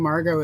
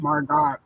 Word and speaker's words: Margot: I go to St Margo it feels like I'm mispronouncing it and it's because it's got that t-o-t at the end and it should be God Margot but anyway um I